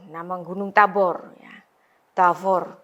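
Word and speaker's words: תבור: Nah, kemudian ada Tavor, nama gunung Tabor ya. Tavor 2 suku kata karena akhiran ini huruf mati ya, close syllable ya, nama gunung.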